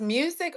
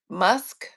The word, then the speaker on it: MUSC: Is that Is it pronounced music or musk? Musk. M U SC. Okay. Oh, the letters musc.